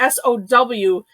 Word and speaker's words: Samhradh: it sarah and i i changed the pronunciation to sow because i'm thinking like like sour sour but but i didn't want to put the r there um because i was